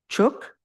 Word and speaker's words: chuk: Chuk. And that's the u sound. Chuk.